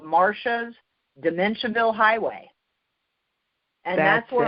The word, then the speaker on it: Marcia: youtube and type in marsha and my name is spelled m-a-r-c-i-a not sha but it's still always martial martial marcia anyway so i have